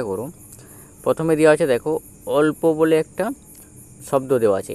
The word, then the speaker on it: অল্প: উচ্চারিত হবে দেব উদাহরণটা অল প এক্ষেত্রে এই অ এর সাথে ল উচ্চারিত হবে। অর্থাৎ এই অ আর ল একসাথে উচ্চারিত হবে। অল আর প অল্প।